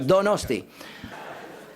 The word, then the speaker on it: Donostia: It is that how you pronounce it? Donosti? Donosti? Yes, that's right. That's right. Donosti.